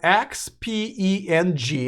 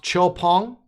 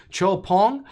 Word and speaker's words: XPENG: Okay, this company, and it's spelled XPENG, and I'll have a separate video about them as well. It's a Chinese-based company. It's pronounced Chopong, and I've had to practice for a while.